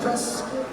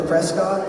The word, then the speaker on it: Prescott: It's apparently pronounced Prescuit. I thought it was Prescott, but listen, I'm just I'm taking it from the locals.